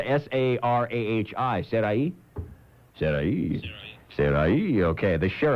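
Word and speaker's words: Sarahi: Sarai?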